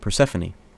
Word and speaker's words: Persephone: It's pronounced Persephone.